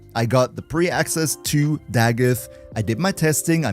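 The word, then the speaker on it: Dagath: And tell me, who of you actually knew that the way to pronounce Dagith is Dagith and not the Goth?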